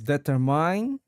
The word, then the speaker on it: determine: And is determine or determine. determining the correct emphasis is on the second syllable. So, it's pronounced as determine with the stress on the tur.